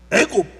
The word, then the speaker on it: 애굽: 헤 이스라엘은 애굽 지금 이집트 땅에서 성경에는 어 히브리어 발음으로 하기 때문에 이집트를 애굽이라 그래요.